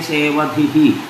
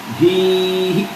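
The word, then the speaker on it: സേവധിഃ: മഹാ ലാവണ്യ സേവധി മഹാലാവണ്യ സേവധിഹി അവിടെ വിസർഗം മാത്രമേയുള്ളൂ ദീർഘം ഇല്ല സേവധി എന്ന് വെച്ചാൽ നിധി എന്നാണ് അർത്ഥം സേവധിഹി അത്രേയുള്ളൂ അപ്പൊ മഹാലാവണ്യ സേവധി എന്നോ മഹാലാവണ്യ സേവധിഹി എന്നോ ഉച്ചരിക്കുക ധീഹി എന്നില്ല സേവധി സേവധിഹി അത്രയേ ഉള്ളൂ ഇത്രയും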